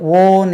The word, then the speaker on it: own: OWN இதை கொஞ்சம் கவனிக்கணும். நம்ம இது ஓன் என்று சொல்லணும். ஓன் ஓன்.